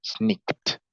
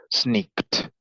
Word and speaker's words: sneaked: Sneaked. Como termina con k, su pasado se pronuncia t. Sneaked.